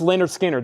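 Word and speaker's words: Lynyrd Skynyrd: this is actually a 33 and a third pronounced Leonard Skinner this is not the 45 RPM is discontinued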